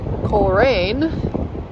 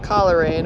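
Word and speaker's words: Coleraine: Just left Colin, not Kalerin. We've been pronouncing it wrong this whole time.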